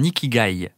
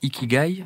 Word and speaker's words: ikigai: que j'avais trouvé mon Ikai estce que je le prononce bien ikigai oui ik est-ce que tu